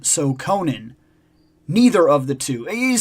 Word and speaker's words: Conan: Okay, I found out that E. Howard said it's pronounced akin to Ronin. So, Conan, neither of the two.